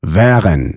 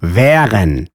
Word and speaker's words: wären: And A umlaut? Well, that's just open wären, wären.